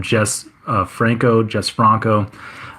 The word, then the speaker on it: Jess Franco: It looks like Jesus, but I think they just call him Jess Franco.